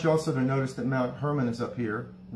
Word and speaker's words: Mount Hermon: moment i want you also to notice that mount hermon is up here it's actually pronounced mount hormone and caesarea philippi is pronounced kasaria felipe but